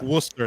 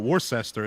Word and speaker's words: Worcester: new englanders yes yeah it's like worcester it's not worcester it's just worcester ah jesus christ i